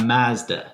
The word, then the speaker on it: Mazda: It's a solid Japanese machine, a Mazda CX-9. And yes, that's how it's pronounced everywhere in the world except for the good old US of A.